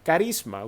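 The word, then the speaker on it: χάρισμα: que se produce verdad se pronuncia carisma usted la ha escuchado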